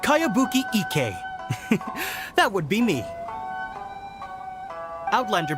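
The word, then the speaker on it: Kayabuki Ikki: By Kawabunga Iki. Yoimiya, this is a really strange name. Who's this Kawabunga? It's pronounced Kayabuki Ike.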